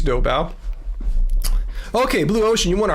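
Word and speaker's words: Doubao: Let me know if I'm pronouncing it right. Is it Dobba or Duba? I think it's Dobba.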